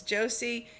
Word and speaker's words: Jose: We see the daughters, Laura, Josie, I know it's spelled Jose, but it's Josie, and Meg.